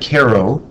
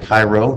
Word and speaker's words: Cairo: west than illinois uh union general centered at cairo illinois now make sure we don't pronounce that cairo cairo is in europe under a general name